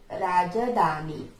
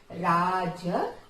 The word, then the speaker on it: ರಾಜಧಾನಿ: Raja, I didn't tell you Rajadhani, okay, because here big da is there, okay, that's why how to pronounce this, Rajadhani, Rajadhani, okay.